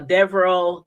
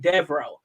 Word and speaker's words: Devereaux: his name is uh devereaux kennick and i hope i'm saying it right because i've been saying that all these five weeks i've been pronounced his name devro i think that's how it's pronounced but anyway devil cannon